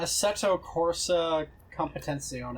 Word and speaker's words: Assetto Corsa Competizione: Let me pull it up so I can pronounce it to you as an Italian. What is it called? Assetto Italian what? Americans don't count. Assetto Corsa Competizione.